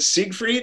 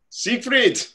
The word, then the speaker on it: Siegfried: All right, so this is Becca's, is it Siegfried? Is that how you pronounce it? Yeah, okay. Like Siegfried and Roy. Siegfried.